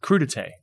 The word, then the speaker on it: crudité: And, I work in aviation, and there's a thing that's common in catering for private flights called crudité, and it's spelled crudite.